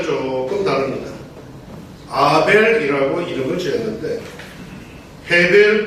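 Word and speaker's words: הבל: 아벨이라고 이름을 지었는데 헤벨 또는 하벨로 발음이 되는 이 단어로서 그 뜻은 숨, 허무, 덧없음, 공허라는 뜻입니다.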